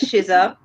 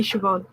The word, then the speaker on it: Siobhan: Shiza, I want to pronounce that as Shiza. That would be Siobhan.